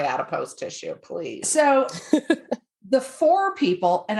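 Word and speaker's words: Fore: tissue please so the four people and I hope it's pronounced four it's spelled f o r e there was no accent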